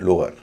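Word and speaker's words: lower: एल डब्ल्यू का उच्चारण लो इसलिए इसको कहेंगे लोअर।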